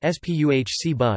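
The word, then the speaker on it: Спасибо: Net, pronounced Net, Net, thank you equals Spasibo, pronounced Spuhciba, Spsib, please equals Pozhaluste, pronounced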